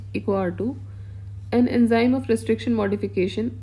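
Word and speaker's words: EcoRI: बोलते हैं that is इको आ2 it produce pronounce इको आ2 an enzyme of restriction modification आरम naturally found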